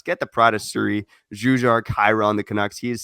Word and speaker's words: Jujhar Khaira: You're probably saying that wrong. Jujhar Khaira? Jujar. Jujhar. I'm gonna butcher it too. I don't know how to say it, dude. Again, not saying that Jujar is a Hindu, but I grew up in a Hindustani household and never learned any of it. So, anyways, how do you say the name? Jujar Kara? How do you say it? I think it's I thought it was Jujhar Khaira.